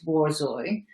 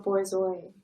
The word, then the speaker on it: borzoi: I wanted to show you a borzoi. Is that how you say it? I think it's borzoi because Borzois. I don't think it's French. I think it's Russian.